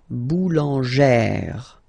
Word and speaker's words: boulangère: Remember, when you get this e plus this accent grave, you pronounce it like eh, really open eh sound. Okay, so boulanger, boulanger, and then feminine form, boulangère, boulangère. Same thing, don't insist too much on the final e, boulangère.